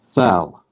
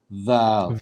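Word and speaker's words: ذال: Thal. val. Thal. So Thal. how do you pronounce the word the? The. Yeah, so you don't say th, you say the.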